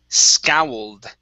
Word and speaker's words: scowled: The word is pronounced scowled. Scowled. Scowled. Scowled. Okay, so you're almost there. So make sure to lift your tongue up and touch the top of your mouth with the for the L.